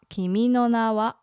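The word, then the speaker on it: 君の名は: what no what yes so it kind of goes up yeah no kimi no na wa kimi no na wa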